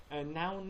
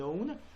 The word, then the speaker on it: known: known noun نگید لطفاً well known.